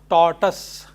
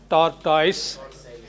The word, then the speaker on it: tortoise: This is pronounced tortoise, not tortoise.